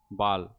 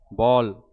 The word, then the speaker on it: बॉल: बाल, और नीचे का बॉल। आ और ओ के बीच में इसका उच्चारण किया जाता है। बोल नहीं बोला जाता, बॉल बोला जाता है।